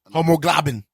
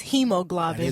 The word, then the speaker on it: hemoglobin: i can spell it homoglobin it's hemoglobin first of all see i said it wrong i was gonna